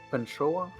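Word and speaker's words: Pantxoa: When the X is pronounced like CH, but it means that the word comes from Basque.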